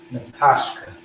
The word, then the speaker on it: Napashka: So N-A, P-A, S-H, no A. And then you have the Ka, which how you pronounce it is going to be Napashka, right?